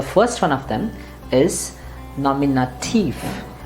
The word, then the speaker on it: Nominativ: one of them is nominative remember you have to pronounce it as thief and not tu or tu it's not nominate you no it's nominativ similarly this one is